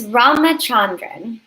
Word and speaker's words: Ramachandran: it how do you say your last it's ramachandran ramachandran wrote amazing ramachandran i'm honored